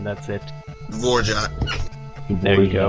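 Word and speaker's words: Dvořák: Antonin, however you pronounce his name, yeah, the Symphony Number 9, that's it. Vorjak. There you go. Dvorak.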